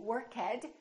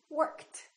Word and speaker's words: worked: a voiceless sound so the past tense of work is not going to be workhead it's going to be t worked worked let's practice a few more